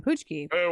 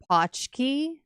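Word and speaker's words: pączki: And I'm like, "Yeah, can I get half a dozen poochki?" And he's like, "It's pronounced patchki."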